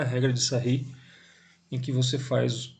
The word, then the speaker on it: Sarrus: Isso é conhecido como a regra de Sarri. A forma de escrever é regra de Sarrus, mas a pronúncia é Sarri, ele era francês.